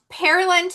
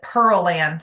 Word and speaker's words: Pearland: training this morning that GPS calls it Pearland, but it's Pearland. Did I say it right? No, I said it wrong. Opposite. So it is pearland. So like land of pears.